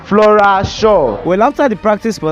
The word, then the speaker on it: Flora Shaw: Flo shi shaw..,Flora shar, ehnn, Flora Shar, Flora Shaw well after the practice for that day, I